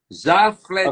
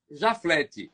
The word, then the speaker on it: Jaflety: Jafleti Ok? Pedro, ou Jaflete. Ele disse que tem essas duas Sim, pronúncias, Jaflete ou Jafleti. já. Eu preferi o Jafleti.